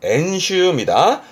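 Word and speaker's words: 演習: 발음은 엔슈입니다. 렌슈와 엔슈는 달라요.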